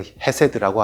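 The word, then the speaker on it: חסד: 성경에서 말씀하는 은혜, 히브리어로 헤세드라고 하는 그 은혜는 긍휼과 자비와 인자를 의미하는 단어입니다.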